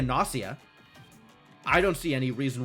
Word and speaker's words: Gnosia: Thought it would be NS rhymes with floss. Oh, okay. Yeah, it could be a Nosia.